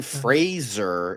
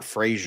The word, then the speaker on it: Fraser: his name is Denzel and Brendan Fraser is Fraser not Frasier not Frasier and I'm pretty sure